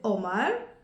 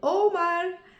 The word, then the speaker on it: Omar: qui s'appellent Omar avec si moi je vais le prononcer Omar j'ai changé un petit pe son prénom c'est plus Omar mais c'est Omar alors si on fait un peu plus d'attention on va dire Omar Omar et voilà pour aujourd'hui